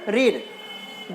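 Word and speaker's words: Greer: इसको कभी भी ग्रीर नहीं पढ़ेंगे, यहाँ पे जी हमारा साइलेंट है, तो इसका क्या हो जाएगा? जर्मन रीढ़।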